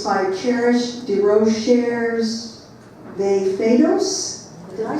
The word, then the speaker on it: DeRocher: It's by Cherish de Rochers de Fados.